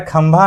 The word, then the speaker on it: खंभा: उसी प्रकार खंभा में खंभा में ख का के एच ए से होता है ख। लेकिन जब हम खंभा बोलते हैं तो खंभा बोलने के दौरान अनुसर की जो मात्रा है उसका उच्चारण म जैसा लगता है।